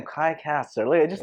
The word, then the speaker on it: Caster: Caster.